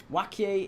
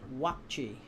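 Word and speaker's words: Waakye: Wakie is rice and beans, pronounced wachi. Wachi. Fair enough. I stand corrected.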